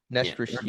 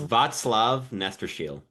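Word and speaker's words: Václav Nestrašil: Prospects for Sebastian's video, I heard it was Nestrasil. How do you say it, Rocco? Is that the correct pronunciation? Nestrasil. Nestrasil. It's Václav Nestrasil. Václav Nestrasil. I've been calling him Strassel all year, but I guess I'm just.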